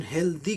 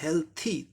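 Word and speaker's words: healthy: अब एक बात यहां जाने, अधिकांश लोग इसका उच्चारण हेल्दी कहते हैं, द हेल्दी, लेकिन इसका एक्चुअल उच्चारण क्या होता है? हेल्थी, था का उच्चारण होता है यहाँ हेल्थी।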